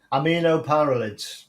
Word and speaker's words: aminopyralids: How do you pronounce it? Aminopyralids.